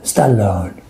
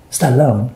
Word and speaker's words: Stallone: name is sylvester stallone stallone stallone it's not french stallone sylvester stallone